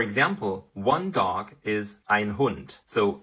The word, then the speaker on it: Hund: one dog is a hun so we have the letter D but we pronounce it as T and in the plural